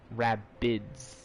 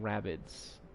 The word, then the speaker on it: Rabbids: Why is there rabbits here? I know they're made by Ubisoft. Rabbids. Raging Rabbids. No, it's not rabbit, it's actually rabbids.